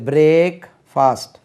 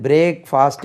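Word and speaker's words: breakfast: 2 வார்த்தை இது, பிரேக் ஃபாஸ்ட். ஆனால் உச்சரிக்கும் போது இது பிரேக் ஃபாஸ்ட் என்று உச்சரிக்கக்கூடாது, சுருக்கணும், பிரேக்ஃபாஸ்ட்.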